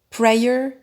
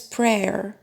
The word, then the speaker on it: prayer: for instance this one a lot of people pronounce it prayer whereas it's prayer prayer and this one a